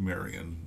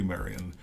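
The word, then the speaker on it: Marion: 202 here's uh I I'm always tempted to call him maid Maran but it's Marty Marian he's a great Fielding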